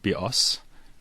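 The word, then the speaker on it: βιός: life and Greek and the word be us with the stress on the second syllable it means bow as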